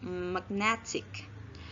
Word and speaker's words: magnetic: another syllable for example the stem magnet which the stress is in the first syllable plus a suffix ache and become magnetic the stress moves from the first syllable to the second syllable so the stress does